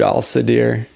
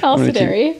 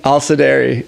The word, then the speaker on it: Alisdairi: Yeah, the third Alisdairi. Yeah. Did I say it right? No. No. Oh, perfect. Alisdairi. Alisdairi.